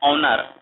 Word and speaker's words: honour: ऑनर क्या है, HONOUR, एच से लिखाता है लेकिन इसे पढ़ा जाता है ऑनर। ऑनर मतलब एच साइलेंट होता है, इसलिए यहाँ पे एन लगेगा।